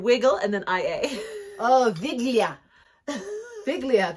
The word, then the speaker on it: Wigilia: Oh, Viglia. Viglia. They pronounce W's like V's.